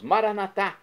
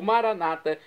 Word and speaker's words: Maranatá: E agora eu clamo do aramaico, dialeto de Jesus, Maranatá, como dizemos nós católicos, com a tônica na última sílaba ou maranata com a tônica na penúltima sílaba, como dizem nossos irmãos separados, os evangélicos ou protestantes.